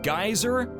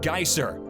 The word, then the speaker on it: Geysir: and i know guys it might sound like i'm saying geyser i'm actually saying geisser it's the name of a geyser yeah i know it's pretty confusing but the name is spelled g-e-y-s-i-r just want to let